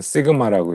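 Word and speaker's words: σ: 로우라고 읽죠. 그다음에 요거는요. 이거는 뭐 할 때 많이 나왔어? 통계에서 네, 이건 시그마라고 읽고 우리 흔히 통계 표준 편차 할 때 많이 썼죠.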